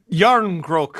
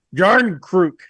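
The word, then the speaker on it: Järnkrok: Jarnkrok. No, but that's not what he said. It was a hard J. Jarnkrok.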